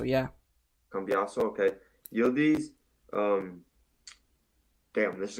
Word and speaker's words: Cambiaso: Cambasio? Cambiaso. Yeah. Cambiaso, okay.